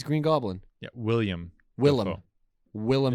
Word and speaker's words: Willem: goblin yeah william willem willem is not william no it's willem dafoe are you spelling